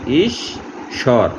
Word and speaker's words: ঈশ্বর: এখানে উচ্চারণটা হলো ঈশ্বর, অর্থাৎ তালিব্যাস দুইবার উচ্চারণ হয়েছে।